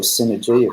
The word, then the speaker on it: CNRG: I run a business network called CNRG, or Synergy, if you say it phonetically.